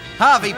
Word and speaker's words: Hervey Bay: From Brian Kennedy from Hervey Bay. Harvey Bay. Yeah, I know it's spelled with an E. I know. H-E-R-V-E. I know.